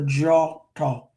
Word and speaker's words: Djôtô: So D I DJ or DW has that J sound. So the draw talk DJ O T O thank well that's I was going to say walking.